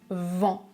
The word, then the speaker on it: vent: Je prononce vent, vent, avec un en comme dans enfant. La mâchoire est relâchée, elle tombe un peu vers le bas.